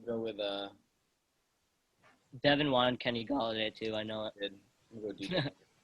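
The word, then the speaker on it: Golladay: Kenny Galladay. Is that how you pronounce it?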